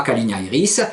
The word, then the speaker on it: calignairis: C-A-L-I-G-N-A-I-R-I-S. Voilà, la calignairis. Donc si vous dites mon calignaire, mon chéri, et ma calignairis, ma chérie.